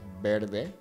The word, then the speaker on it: verde: The word green is verde. When it comes to pronouncing V's in Spanish, we actually oftentimes pronounce V's like a B sound.